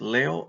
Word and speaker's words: leo: vowels together each vowel when you have a verb is a new syllable and again how do I pronounce this Leo I put the accentuation on the first syllable oh I'm sorry not on the first syllable I'm sorry on the second last syllable so the last syllable